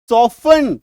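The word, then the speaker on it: soften: एस ओ एफ टी एन सॉफन टी को काटिए।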